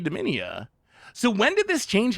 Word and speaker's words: Dominia: I was thinking that Garfield was mispronouncing it. But no, it was actually Dominia.